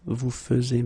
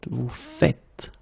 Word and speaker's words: vous faites: it like that and it's not vous faisiez but vous faites.